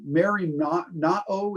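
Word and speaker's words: μεριμνάω: It's the merimnao is a Greek word. It's spelled MERIM A-O.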